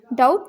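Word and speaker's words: doubt: मुझे कोई शक नहीं डाउट में भी साइलेंट हो जाएगा तो हम बोलेंगे डाउट प्रोबेबली नॉट शायद नहीं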